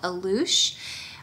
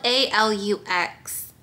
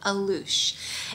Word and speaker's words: Alux: restaurant called alouche um that is how you say it it looks like it's it's it's spelled a-l-u-x like a lux but somebody helped me out here and they said it's called aloosh it is like a